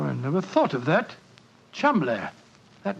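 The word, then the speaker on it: Cholmondeley: know that the name Cham is in no way pronounced the way it is spelled but Jo I never thought of that Cham that name spelled c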